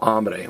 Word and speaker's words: hambre: I am hungry tengo hambre well see the word ham if you want a hamburger you're probably hungry or if you want a ham sandwich you're probably hungry now don't get confused a